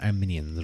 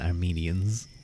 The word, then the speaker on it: Arminians: I'm going to call them Arminians rather than Armenians. I think that's a better pronunciation.